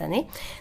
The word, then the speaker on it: Anneet: à Paris mais avec mon nom de famille en fait en année parce que ça se prononce année donc ce serait moi